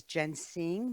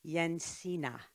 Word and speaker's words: Jensine: uh her name badge looks like it says Jen sing but it's not it's actually yena is how it's pronounced Larson is an award-winning digital impact entrepreneur